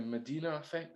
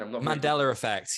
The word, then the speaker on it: Mandela effect: think i think it's is it the medina effect is that how you say it again mandela effects yes that's what it does